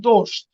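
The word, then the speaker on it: дождь: Entry এবার বলছে এখানে আছে এটার উচ্চারণ হবে দোস্ত, দোস্ত, এটা শেয়ার মতো দোস্ত, দোস্ত মানে হলো রেইন, রেইন, তার মানে এটা কি দোস্ত, দোস্ত।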